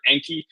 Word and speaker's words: Anki: I actually focus a lot of my personal methodology around an open source software program called Anki or Anki. You'll hear people pronounce it different ways. It's ANKI.